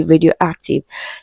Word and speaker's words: radioactive: So we are still under word stress and the word is radioactive. Okay. So when you hum you see that the stress is an act. Okaym. Okay. So the answer to this question is definitely option C radioactive.